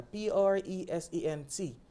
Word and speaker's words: present: Now, when it's a verb, the stress falls on the second syllable and the sound completely changes.